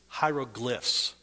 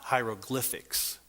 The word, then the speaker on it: hieroglyphs: When you talk about this type writing, the proper way to say it is hieroglyphs. These little pictures are hieroglyphs, not hieroglyphics. The word hieroglyphic is the adjectival form. So it's hieroglyphic writing.